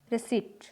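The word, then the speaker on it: receipt: लेकिन कुछ common random word हैं जिनमें पी साइलेंट रहता है, जैसे Q, cupboard, raspberry, रिसीट। रिसीट यानी रसीद, नेक्स्ट है आर।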